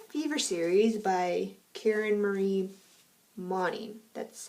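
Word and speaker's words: Moning: known as the fever series by karen marie money that's how you pronounce it but that's what i read um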